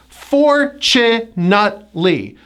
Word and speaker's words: fortunately: The first syllable gets the stress, and the T is pronounced as a CH, like chop, chop, chop. So it's fortunately.